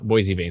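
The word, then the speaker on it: Boissevain: into the the southeast corner uh boisevane yeah boise vain says sandy thank you so much you pronounced it correctly says northern ice dragon thank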